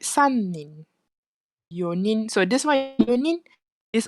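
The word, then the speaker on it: 四人: But it'll be a bit difficult to pronounce it. So that's why they change it. Instead of this one, it'll become yonin.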